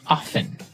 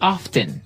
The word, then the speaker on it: often: Now, with pronunciation, some people like to pronounce often, right? They kind of leave out the strong T sound. Well, other people say often.